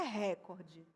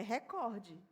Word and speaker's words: recorde: Então, a palavra, por exemplo, recorde, ela não tem acento, mas é uma palavra paroxítona, não é recorde. É recorde.